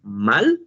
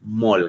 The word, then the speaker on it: mall: Don't pronounce it mal. No, no, no. You're going to help me to say it mall, guys.